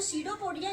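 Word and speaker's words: pseudopodia: ठीक है, इसमें जो सीडोपोडिया, इसका पी साइलेंट रहता है, इसको नहीं पढ़ते, यहां से पढ़ेंगे सीडोपोडिया।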